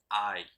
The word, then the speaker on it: I: ¿Cómo se escribe yo? Así, y se pronuncia I.